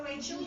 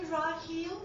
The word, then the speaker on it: Raheel: the eye and say, do I look like a Rachel to you? And so, they'll back off and I'll say Raheel, very simple.